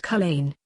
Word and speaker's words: Culzean: So it was on Mavis that Bren rode across to the next town, Culzean, pronounced Culzean, which had a post office.